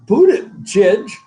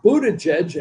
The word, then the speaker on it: Buttigieg: Pete Buttigieg.